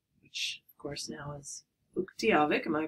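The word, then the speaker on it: Utqiagvik: And so the first place I ever went to in Alaska was Barrow, which, of course, now is Uktiavik. Am I pronouncing that correctly?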